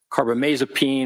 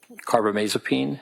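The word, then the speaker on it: carbamazepine: I mean for example lithium or carbomasopene or valproic acid those are all mood stabilizers.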